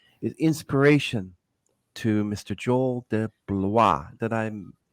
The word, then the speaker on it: DeBlois: Joel de Blois.